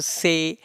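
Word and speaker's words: ثاء: letter gonna be the sa has three dots and the pronunciation of sa is the don't make whistle sound and the sub pronounced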